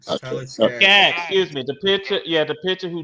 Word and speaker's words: Skaggs: By one of, I brought it up on Sunday that Tyler Skanks. I know I mispronounced. I know I butchered his name. Tyler Skaggs.